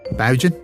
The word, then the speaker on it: Boughen: I should probably tell you how to pronounce my last name, by the way, as it's a tricky one. Below.